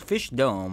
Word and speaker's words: Fishdom: don't know how fish it's fish Dome of course that's how it's pronounced no duh but the